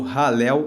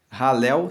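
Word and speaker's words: Hallel: encontra o conjunto dos Salmos que formam o ralel egípcio ralel se escreve h a l l e l e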